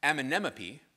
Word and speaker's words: Amenemope: So from Egypt, we found texts like the Wisdom of, and you're going to all learn how to pronounce this, probably not, Amenemope. You're all going to say anemone and it'll be fine.